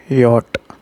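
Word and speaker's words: Jot: आई को हम ई बोलते हैं, सो आई, ए, जे, यॉट। जे को हम यॉट बोलते हैं, यॉट प्रोनाउंस करते हैं।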